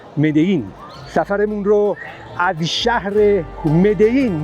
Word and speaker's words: Medellín: بد نیست به این موضوع هم اشاره بکنم که این شهر مدیین هستش و مدلین نوشته میشه ولی از اونجایی که دبل ال در اسپانیایی ی تلفظ میشه به این شهر میگن مدین.